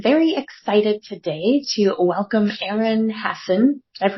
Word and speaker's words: Aaron Hassen: well I am very excited today to welcome Aaron Hassen did I pronounce that right you did okay good to